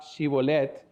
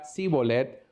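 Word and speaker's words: Shibolet: entonces le decía después la palabra ciboulette pero él decía si bolet porque no podía pronunciarla correctamente entonces les echaba en mano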